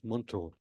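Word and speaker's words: মন্ত্র: all with your mind in Bengali Mantra is pronounced as Monto and shamak Krishna defines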